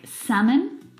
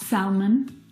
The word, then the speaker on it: salmon: Words like salmon, not salmon, half, not half, would talk, walk. All of these words have a silent L in them, which makes them a little bit tricky to pronounce correctly.